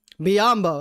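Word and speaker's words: Biyombo: Biombo.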